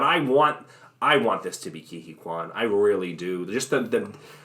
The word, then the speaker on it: Ke Huy Quan: Ke Huy Quan, right?